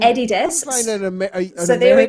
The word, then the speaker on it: Adidas: people in chat saying i am pronouncing adidas right oh it is actually a german brand so this is an adidas commercial for adidas where they say adidas in the commercial yeah and then we've